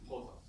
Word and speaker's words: Poisson: Poisson. It's not called Poisson, it's called Poisson. So that's the pronunciation.